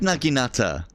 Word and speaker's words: naginata: have ashigaru sword and board I've always said naginata I've I've used a nugi Nutter in real